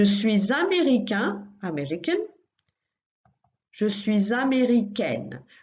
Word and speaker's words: américaine: Je suis américaine. Watch out for that one because the ending is slightly different. You still add an E, but that makes it sound slightly different, a bit on the same line as italien, italienne, américain, américaine.